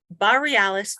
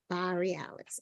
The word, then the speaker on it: Baa-realis: So, I should tell you where the name comes from, because then if you can't pronounce it, then that means you haven't figured out where it comes from. The Northern Lights.